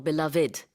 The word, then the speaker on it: beloved: really like two three beloved or beloved so the Beloved or beloved fub and there's no rule for that word it's just how you decide to pronounce it yeah well she's no